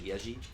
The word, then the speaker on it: Yezi: It's like Yezi, but Y-E-Z-I, but I think it's pronounced like Yeji.